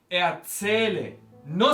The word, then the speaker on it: erzählen: Ich erzähle, no separable. Prefijo no separable, ¿cómo es? Ich erzähle. El acento se mantiene, en este caso, en la segunda sílaba.